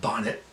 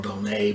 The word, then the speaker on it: Bonnet: And um I've heard it uh called Charles uh Bonnet syndrome or Bonet, but I think it's pronounced Bonnet from what I've done a little more research.